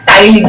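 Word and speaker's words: ptyalin: इसको हम और क्या कहते हैं, टाइलिन, आपको नाम पता होना चाहिए, जिसमें पी साइलेंट है, दूसरा है बच्चे स्टमक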